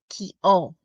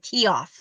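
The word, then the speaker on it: Keough: I think it's because the GH, I keep saying it's the F sound and it's Keo. So my apologies to all of you who have tried to correct me over the years how to pronounce that last name. I keep calling it Keoff, but it's Keo.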